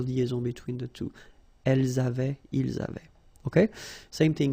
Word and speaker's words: avaient: we've got also here A-V-A-I-E-N-T, but then you pronounce it avait. So the same way as we pronounce here, okay? J'avais, tu avais, il avait, nous avions, vous aviez, ils avaient.